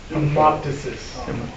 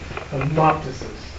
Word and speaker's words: hemoptysis: Hemoptysis. Hemoptysis.